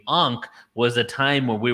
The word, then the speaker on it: Ankh: Well, did you know that A was silent in pre-dynastic Egypt? It was actually Nkh. They didn't even pronounce the A because it was too sacred. When the A became a part of language and it became Ankh, was a time where